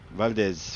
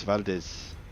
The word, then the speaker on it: Valdez: ferry up to vdi valdies waldies I don't know how you pronounce it Valdez Valdez in Alaska you're good happy to hear I'm